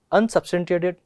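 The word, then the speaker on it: unsubstantiated: अच्छा, लेकिन इसके लिए अगर हम लोग इसका सही प्रोनाउंसिएशन देखें तो देखिएगा, इसको टुकड़े कर करके यूज़ करो। एक तो हो गया अन सब्सटेन और शिएटेड, सब्सटेंटिएटेड, अनसब्सटेंटिएटेड।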